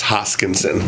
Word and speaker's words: Hoskinson: no one can say my last name it's hoskinson they would always say it wrong so my